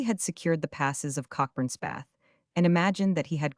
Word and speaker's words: Cockburn's Path: A deep ravine called Cockburn's Path, or, as Oliver pronounced it, Copper's Path, about 40 feet deep